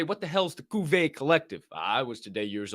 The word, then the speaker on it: Cuvée: Cuvée, it's spelled like Cuvée, but I think it's Cuvée because they have a little shit.